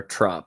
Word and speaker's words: TROP: It doesn't help the show's called Trop, The Ring of Power, Trop, because Trop rhymes with flop.